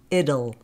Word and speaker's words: it'll: it'll now notice here the final t in it will actually be pronounced as the flap D it'll excuse me it'll it'll